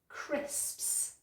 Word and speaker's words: crisps: There's a consonant cluster in there. So it is crisps. Crisps. Okay, crisps, crisps. You try. Okay, great. Try it again. Crisps. I'm going to do it really slowly. Crisps. Okay, so the last bit is just ps, crisps.